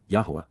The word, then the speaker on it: Yahowah: The root of the title chosen by the Almighty apart from men except Yahweh Yahwa. The proper pronunciation of the name of Aloa God as directed in his Torah teaching regarding his high existence and our shalom restoration.